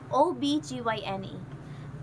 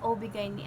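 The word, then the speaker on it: OB-GYN: meetings yung ano natin ob guy ob gyn OB gyn pala ang tamang pronunciation non ang pronunciation ko kasi doun is obig ni ah bahala na Basta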